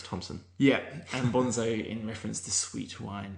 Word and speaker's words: Bonnezeaux: B O N E Z E A U X G O N Z Z O Bonzo Gonzo. So it rhymes, but it's just a stupid thing to call your blog if you want people to find it.